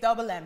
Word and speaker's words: DVBLM: the div and hey it's it's double m it's pronounced double m um the double m